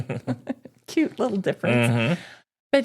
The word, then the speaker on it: Hormel: Which we always used to pronounce it Hormel. But after we got up to Minnesota, they all pronounced it Hormel. It's Hormel.